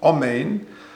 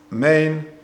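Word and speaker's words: אָמֵן: putting a komotz or a patach under the aleph, Amen, instead you put a shava under the aleph. Now if you put a shava under the aleph, then that just says main, you're not pronouncing the aleph.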